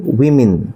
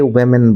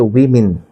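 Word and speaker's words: women: এর উচ্চারণ হচ্ছে উইমিন। কিন্তু আমরা আমরা অনেকেই ওমেন বলি। এটা হচ্ছে উইমিন।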